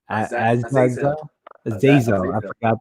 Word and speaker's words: Azazel: How do you pronounce that? Azazel? Azazel.